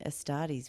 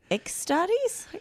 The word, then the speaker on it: Astartes: because i was like how on earth are you pronouncing astartes with an ex what's he saying ex-studies what are you talking